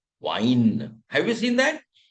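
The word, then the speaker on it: Wein: Now how will you pronounce the combination where E in English comes before I then we pronounce it like wine.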